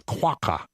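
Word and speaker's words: quagga: come up with a quaka it's it's it's pronounced it's spelled quu a g g a but it's pronounced the GG is pronounced as a c and apparently it it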